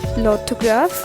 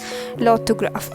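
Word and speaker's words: l'orthographe: orange called in fringe that is orange and lothograph remains the same that is spelling remains the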